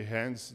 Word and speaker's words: Hands: colocamos como Random service que a pronúncia em inglês é de Hands de Hands como mãos né no sentido de